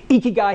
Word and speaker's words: ikigai: Okay, that's how you pronounce it. Now you can remember. Ikigai has four components to it.